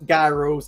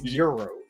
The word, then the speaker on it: gyros: It's not gyros. It's euros.